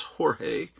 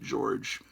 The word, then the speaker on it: Jorge: My friend George, actually his name is Jorge. It's a Spanish name, but he always pronounced it George, because people back in the 70s in the United States didn't know how to pronounce that.